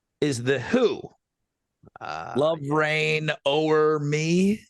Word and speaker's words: O'er: Love Rain O'er Me, right? Yes. Did they say that's got a weird song title? Because it's not Rain Over Me, it's O'er.